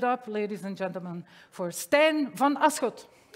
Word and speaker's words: Stijn: so um but yeah my name is stan if you wonder how to pronounce it when you see this just think of this guy that's me just say hi stan and in my spare